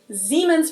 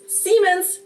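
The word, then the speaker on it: Siemens: you're trying to say, Zemens versus Semens to us is tomato tomato. So, I personally wouldn't even say that Americans pronounce this one wrong.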